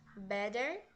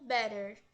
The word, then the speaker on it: better: nosso por exemplo better reparem que quando a gente fala no inglês americano pode ser tanto beder né com uma pronúncia de D ou better com som de R agora quando a gente fala o inglês britânico vocês podem reparar que vai ter um som de T Beta ou better sabe não sei se